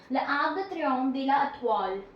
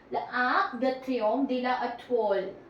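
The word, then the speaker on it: L'Arc de Triomphe de l'Étoile: L'Arc de Triomphe de la Étoile. L'Arc de Triomphe de la Étoile. L'Arc de Triomphe de la Étoile.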